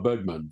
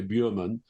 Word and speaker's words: Bergman: like for instance inar Bergman they'll say you don't want to pronounce it correctly because nobody in England will know who you're talking about if you say buman it's got to be Bergman so you have to anglicize